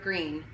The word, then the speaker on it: Greene: name is gooni bird green that's green with a silent E on the end I just moved here